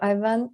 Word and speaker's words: Ivan: Thank you, Ivan. And do I pronounce the name correctly?